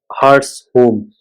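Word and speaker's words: Hartshorne: Process thinkers Charles Harshun (1897 to 2000) pronounced Hartshorn Hartshorn makes the following point: the traditional objection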